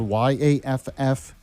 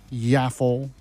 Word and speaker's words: Yaffee: And it's spelled Yaffee. It's not Yaffle or Waffle or Yappy or any of this other stuff that's out there.